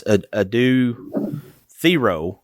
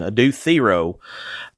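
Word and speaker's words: Adou Thiero: I'll go back to this Adu Thero. Thank you, Carolyn Williams, for correcting me on the pronunciation. Adu Thero is going to be the X factor.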